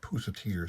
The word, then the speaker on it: Pusatier: Pusatier, I asked him once how to pronounce it. He told me Mike Pusatier.